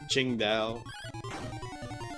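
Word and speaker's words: Tsingtao: Chingda, which is uh spelled singo, but it's pronounced Chingda, which is the name of the place where it's brewed in. Anyways, if you ever drink Ching Dao, it's actually pretty good.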